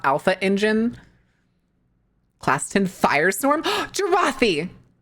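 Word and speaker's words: Jarate: Look up Jarathi. It's spelled like karate, but with a J. For TF2. Jarathi.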